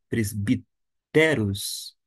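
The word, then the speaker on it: πρεσβύτεροι: Como a sílaba tônica encontra-se aqui, podemos ler presbiteros.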